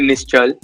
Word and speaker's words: Nischal: Yeah, I mean, there are different pronunciations to my name. You can, but usually, you can call me Nishal. I think that's easier to say. But in India, people call me Nischal. So, but that's harder to pronounce.